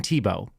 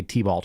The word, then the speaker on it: Tebow: It's Tim Tebow. She doesn't know how to say it. She's going to say T-Balt or something like that because she doesn't know who Tim Tebow is either.